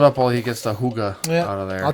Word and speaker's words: hygge: so and then they said it was the huge game and i just like went with it i'm